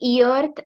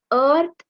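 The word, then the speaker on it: earth: यहाँ पर हम ईअर्थ ऐसा नहीं बोल सकते. ठीक है अब हमें यहाँ पे ई का प्रोनाउंसिएशन अ ऐसा करना है. Okay so द अर्थ इज the right word. Okay हम यहाँ पे ईअर्थ ऐसा नहीं बोलेंगे.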